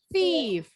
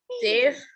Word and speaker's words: thief: Bilal, thief. Thief. Masih T. Thief. Ujung lidahnya keluar. Seperti pengucapan huruf sa. Sa. Thief. Yes, that's it. Baru betul.